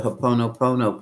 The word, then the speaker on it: Ho'oponopono: That goes back to the Ho'oponopono prayer. It's spelled hop, oh no, hop, oh no, oh no.